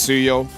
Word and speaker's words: Suyo: I know it's pronounced as Suyo, but you know what, Gideon? I like how we pronounce him, which is Soyu.